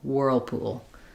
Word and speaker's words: whirlpool: So whirlpool whirlpool.